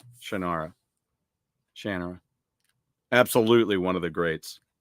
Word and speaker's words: Shannara: I always thought it was Sword of Shannara. Then I saw an interview with the writer Terry Brooks. It's Shannara. Decades I've been saying Shannara.